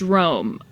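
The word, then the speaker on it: Röhm: sound like a douche, you say it so it sounds like the English word room.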